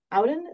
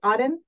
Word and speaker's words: Auden: Auden, is that how you say it? Auden. I'm not sure. Auden? Yep.